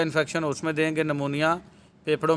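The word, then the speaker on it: pneumonia: में तो double निमोनिया इसको पी निमोनिया नहीं पढ़ना इसको निमोनिया पढ़ना पी इसमें साइलेंट है जेनिटो यूरिनरी इंफेक्शन यानी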